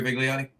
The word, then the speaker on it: Vigliotti: Anyway, I pronounced it right, Vigliotti. Yeah, that is correct.